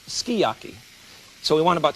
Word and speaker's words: sukiyaki: This is not suki. They tell me it's skiyaki. S-U-K-I-Y-A-K-I is pronounced skiyaki.